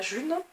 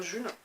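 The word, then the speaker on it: Ğ1: Et je commence à m'investir, à aller à des événements de la monnaie libre, la June, ça s'écrit G1 mais ça se prononce June.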